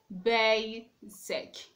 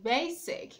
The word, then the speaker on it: basic: Basic. You say basic, not basic. In that word, you have the stress on the first syllable.